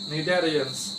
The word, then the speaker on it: Cnidarians: Example is there all cnidarians. Cnidarians. D-A-R-I-A-N-S. All Cnidarians. Don't say Cnidarians. Cnidarians. C is silent.